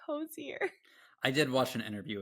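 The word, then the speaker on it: Hozier: again I think because someone was like it's French so it's like the French pronunciation I'm like I don't think he's Irish so like strongly Irish I don't know where the French pronunciation of this would come in and they're like no no no no it's josier and I'm like I think it's hoser I did watch an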